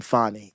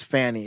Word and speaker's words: Fani: what's happening with Fanny I'm not pronouncing her name fonnie it is Fanny it's too perfect Fanny